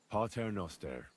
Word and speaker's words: Pater noster: You're saying it wrong. Listen. It goes like this. Pater noster.